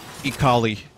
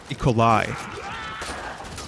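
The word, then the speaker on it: E. coli: people taking me serious no it's it's not eat collie I think it's unfair that romaine lettuce gives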